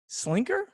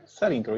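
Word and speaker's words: Selinker: We have Mike Slinker, not Sellinker? Sellinker, yes. Mike Sellinker.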